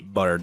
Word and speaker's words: Boyardee: Changed the way his name was spelt so people pronounced it Boyardee.